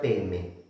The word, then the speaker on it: Padme: Y Padme, que es con D, Padme, se pronuncia Peme.